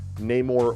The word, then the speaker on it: Namor: It was very difficult to try to come up with powers for Aquaman that wasn't exactly Namor or Namor, depending on which way you like to pronounce it.